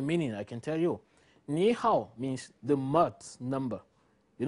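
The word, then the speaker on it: 你好: is a turtle so when you say me how you should pronounce it niihau let's consider that for any reason you say something like me how it gives us this one niihau means hello but Niihau doesn't mean hello and if you want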